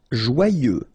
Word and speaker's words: joyeux: Joyeux. Final X not pronounced, and then joyeux, okay?